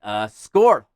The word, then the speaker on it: skål: It's like it's an A with a little circle around it on the top, and that is pronounced oh, like oh my god.